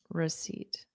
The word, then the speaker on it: receipt: receip d da receip so I hear a strong eat sound seat seat you could also spell it s e a t as I'm sitting on a seat because it's the exact same thing exactly where did it